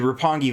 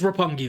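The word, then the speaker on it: Roppongi: QT Marshall, uh, defeated Rapangi Vice or RPG Vice. I'm not sure if that's how you pronounce it now that I'm They stay at RPG Vice. It is Rapongi Vice.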